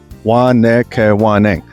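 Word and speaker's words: Wahnekewening: I sometimes just call it Waka Waka if I forget how to pronounce it, but it's Wanakawanang.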